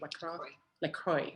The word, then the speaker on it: LaCroix: Bubbly or lacrosse. How you say it? LaCroix.